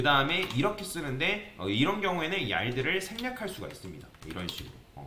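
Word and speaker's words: yield: 쓸 거냐면 일단은 여기다가 얄드 뭐 이걸 발음하는 게 어려운데 얄드라고 읽거든요. 얄드라고 뭐 이런 식으로 읽어요.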